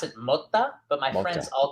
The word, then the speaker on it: Motta: So they pronounce it Motta, but my friends Motta. all call me Mata.